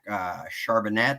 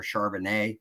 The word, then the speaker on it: Charbonnet: I think the running back you're thinking of, if I may pronounce this wrong, Zach Charbonnet or Charbonnet. Cabernet, yeah.